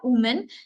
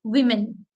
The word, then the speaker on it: women: pronounce it as woman it is not women it is women women we mean so if I can write this pronunciation spelling I will write as w-e-m-i-n this is a pronunciation spelling women but the actual spelling is w-o-m-e-m this is the correct spelling but the pronunciation would be women in the same way